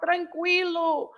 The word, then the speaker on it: tranquilo: By the way, there are, because people can start saying, oh, but tranquilo, we read the U. Yes, we do. In tranquilo, for example, because I know these people like to start, oh, Yes, it's not like that.